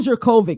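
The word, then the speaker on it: Jurkovec: yeah it is yeah Phil jovic is how you say but we all say jerkic yeah so it seemed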